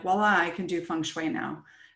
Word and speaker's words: feng shui: So feng shui is really pronounced feng shui.